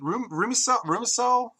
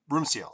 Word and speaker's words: Rumsiel: But, and yet you create a character like I'm sorry, is it Rumisel? How do you say that? Rumsiel.